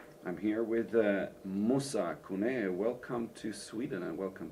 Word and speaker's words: Koné: It's Moussa Koné because my last name isn't American. My last name is French, so there's an accent on top of the E, so it's Koné. It's pronounced Koné.